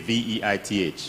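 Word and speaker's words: Veith: Some people say Veit, V-E-I-T-H. Yeah, but German. So it's German, he pronounced Veit.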